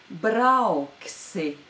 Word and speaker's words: brauksi: and that word is brauksi. This word also is in its future form, and it means will go or will drive. Brauksi. Brauksi. There is a diphthong au in this word. Brauksi.